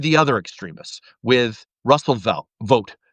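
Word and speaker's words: Vought: With Russell Vote, right? It's actually pronounced vote.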